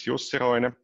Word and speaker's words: Jussi Roine: You pronounced my name exactly correctly, and you're probably the only person outside Finland who can do that now. So, good afternoon, good evening, everyone. My name is Jussi Roine.